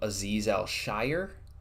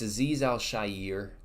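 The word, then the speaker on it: Al-Shaair: know broadcast and stuff when announcers will pronounce his name aiz Elshire it really bothers me a lot it's not a zizel shire it's aiz Al Shyer it Bo it bothers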